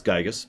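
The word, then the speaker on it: Giygas: war against gigus which I'm going to pronounce gigus by the way and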